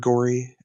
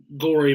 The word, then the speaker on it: Gorey: Now that you say that, yeah, Edward Gorey, but it's spelled like Corey. Gorey, if I remember correctly.